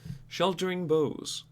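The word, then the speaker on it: Sheltering Boughs: the deck exists wilson sheltering bows yes that's how you pronounce that it's not burrows there's no r so for three mana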